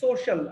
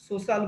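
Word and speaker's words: social: তো এখানে কি বলেছে যে উই হ্যাভ টু টার্মস, আমাদের রয়েছে দুটো শব্দ রয়েছে, to describe hour সোশ্যাল behaviour. উচ্চারণটা খেয়াল করবা, সোশ্যাল, আমরা অনেকেই সোশিয়াল বলি, সোশ্যাল বলি, উচ্চারণটা কিন্তু শুদ্ধ করতে হবে, সোশ্যাল।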